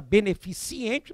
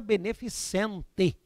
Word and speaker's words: beneficente: é então a volume eu não fala beneficiente ou até digo se eu ouço beneficiente eu já sei que não estudou comigo porque eu falo tanto em sala de aula tem as aulas direito tributário ii o que eu sei que os alunos guardam festa beneficente beneficente você vai aprender isso